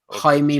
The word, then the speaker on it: Jaime: Is it Yami? Jaime Munguia, I think. Jaime. It's like Jamie or something like that.